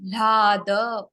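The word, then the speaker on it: ह्लाद: Ha and La together, pronunciation Lada, from the heart.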